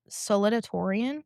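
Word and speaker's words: salutatorian: Saludiatoran. Saludiatoran. Yeah, saludiatoran. How do you pronounce it like you just did?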